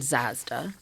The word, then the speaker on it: Zazda: I'm joined by Caitlyn Zazda, which rhymes with Mazda, so it was easy to remember.